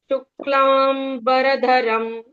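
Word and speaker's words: शुक्लाम्बरधरम्: टू के बाद आधे क का आघात लिया जाता है। यहां पर जो भी आधे अक्षर आते हैं कहीं पर भी तो वो स्ट्रेस प्रोनंसिएशन होते हैं। ये आघात का नियम है। यहां पर आधे क और आधे म को स्ट्रेस देकर ही पढ़ा जाता है। शुक्लाम बरधरम इस तरह से।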